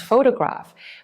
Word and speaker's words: photograph: The word photograph is stressed as photograph, but photography becomes photography. These are the same root words, but with different stress patterns.